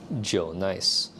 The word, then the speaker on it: Jnice: the J Nice brand, even though it's spelled just J nice, is pronounced Joe Nice.